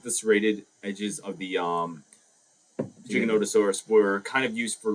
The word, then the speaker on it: Giganotosaurus: A 5-year-old tells me it's pronounced Giganotosaurus.